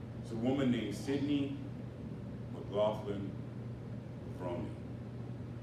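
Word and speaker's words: McLaughlin-Levrone: I kept thinking they were mispronouncing her last name, but they said it in front of her, and that's how they say it, so that's how I'm going to say it.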